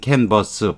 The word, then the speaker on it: canvass: 여러분이 우리가 그림을 그릴 때 canvas 그런 건 S를 하나만 쓰고 이건 canvas 발음은 같은데 S를 2개 써요.